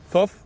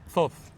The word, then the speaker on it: Thoth: We were it's- just arguing about pronouncing the name of Thoth.